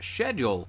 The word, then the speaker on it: schedule: them on that because if you look at the word historically um it actually originates from greek and typically speaking a lot of greek loanwords that begin with sch like the word school are pronounced sk schedule in this case